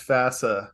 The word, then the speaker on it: FASA: Hey, real quick, it's FASA. Rhymes with That's FASA.